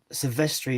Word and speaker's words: Silvestri: Impossible says Alan Silvestri, is that how you pronounce his name? Silvestri? Yeah, that's right.